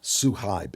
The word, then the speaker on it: Suhaib: Now, earlier, 2019, a few years ago, your brother Suhaib, is that how you pronounce it, Suhaib?